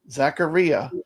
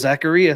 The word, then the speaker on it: Zaccaria: on that games uh Jason says it actually does rhyme with diarrhea Zacharia am I saying it right Jason Zacharia so it is Zacharia Zacharia Zacharia Zacharia not